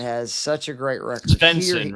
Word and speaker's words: Svensson: Svensson, right? Yeah. How do you say what you said? Svensson, right? Yeah. Isn't it SV? I'll never get that right. Svensson. I know. Svensson. You gotta feel like you're Swedish.